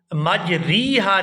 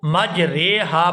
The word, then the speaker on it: مجریہا: مجریہا۔ یہاں را کو مجریہا نہیں پڑھیں گے، یہاں پر اس را کو زیر کی طرف جھکائیں گے لیکن آدھا جھکائیں گے، یہاں پوری زیر جو ہے وہ نہیں پڑھی جائے گی۔ ہم جس لہجے کے اندر قرات کرتے ہیں وہ ہے قرات امام حفص رحمہ اللہ، اور ان کی قرات کے مطابق اس لفظ کو مجریہا پڑھا جائے گا، مجریہا اس کو نہیں